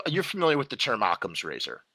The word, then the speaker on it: Occam: it's you know you're familiar with the term occam's razor right okam's razor yeah okam's razor thank you sorry i've been mispronouncing it all these years okam's i guess